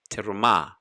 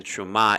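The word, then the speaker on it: תרומה: for me the hebrew word for offering is terumah depending on how fast you pronounce your hebrew from anyone whose heart compels him to take my offering and again truma is the word for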